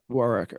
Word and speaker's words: Warrecker: We've heard a Yeah, couple different pronunciations, so I want to make sure I had it right. Warwicker. Yeah. Warrecker.